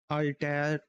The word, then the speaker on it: Altair: on Millennium Space Systems Altair core bus platform. Now let me just pronounce this for that you can more understand in a right way. That Altair, I said it pronounced at ALTAIR, core bus platform.